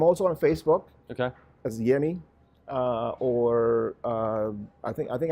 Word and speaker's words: Yemi: that I do and you're known just as yummy exact like French and like share and like